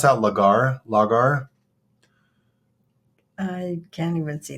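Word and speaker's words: lagar: went a little deeper on lar um oh pronounced lar is a traditional shallow open toop vessel used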